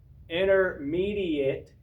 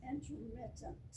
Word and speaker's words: intermittent: Then there's the intermediate fasting. Make sure I pronounce that correctly this time. Yeah. It's intermittent. No, I think it's intermediate. Actually Intermittent. Intermittent. Okay, intermittent, intermediate. Okay, either one.